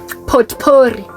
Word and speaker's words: potpourri: Yeah, potpourri. Okay, listen, the silent T over there is like the power of God.